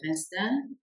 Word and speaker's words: instinct: fz- vous à votre instinct auou négatif ne vous fillez pas voilà instinct instinct instinct on ne prononce ni le C ni le T et la dernière ici